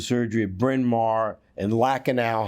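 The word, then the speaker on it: Lankenau: at bryn mawr and lacanao hospital pronounced correct lackadaille do they do that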